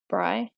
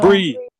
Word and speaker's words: Brie: The cheese. Bry. Oh, it's no. Brie Larson.